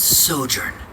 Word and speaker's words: sojourn: yes it is old uh how do you pronounce this word let me see Ah that's sojourn it means to stay for a while this